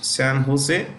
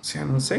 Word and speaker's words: San Jose: Systems which is headquartered in San Jose it's pronounced with an edge San Jose California okay San Jose California let's go past this apple apple is